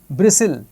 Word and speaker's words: bristle: Whistle, rustle, fasten, bristle, catch.